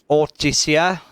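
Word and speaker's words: Ortysia: So I just popped into Ortisia. That's how you pronounce it.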